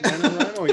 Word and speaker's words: NaNoWriMo: I'm going to do my first NaNoWriMo. How do you say it? NaNoWriMo, yeah.